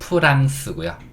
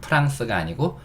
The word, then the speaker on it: France: 한국어식 으로 쓰인 단어는 "France" 입니다 . 원래 영어 발음 은 "France" 가 아니라 "France" 입니다 . 그게 원래 발음 이에요 .